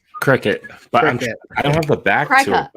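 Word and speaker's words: Cricut: I call it a crack cut I called it it is spelled it is spelled cry cut it is like it's called cricket and I'm like no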